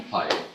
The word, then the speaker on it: Paye: Paye.